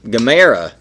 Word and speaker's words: Gamera: We also saw footage from Gamera 4. Yeah, man, that's a Gamera 4. Sorry, I'm pronouncing it the... Gamera.